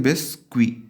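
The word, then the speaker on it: biscuit: तो बिस्किट को क्या बोलते हैं, बिस्क्वी, सेम स्पेलिंग होती है एस के साथ।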